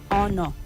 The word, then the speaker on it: honor: You say honor and honorable, not honor. The H is silent.